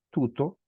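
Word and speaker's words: τοῦτο: veamos acá hermanos Miren la palabra tuto aunque se escribe Tao pero se debe leer tuto tiene un acento circunflejo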